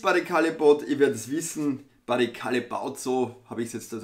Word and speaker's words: Barry Callebaut: gewohnt was ist barry callebaut wird es wissen barry callebaut so habe ich jetzt das in videos auch nach gehört wird ausgesprochen offensichtlich von den meisten das ist der